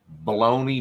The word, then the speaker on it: bologna: Why is bologna spelled G-N-A at the end and pronounced bologna?